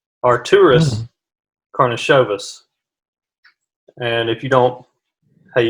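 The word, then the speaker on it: Artūras Karnišovas: starts to get a little bit more tricky Artorius cornice ovis are tourists cornice oh vyas coupe service is that your final yes what I'm going with alright so it's actually pronounced our tourists Kournikova's are tourists karna Chavez and if you don't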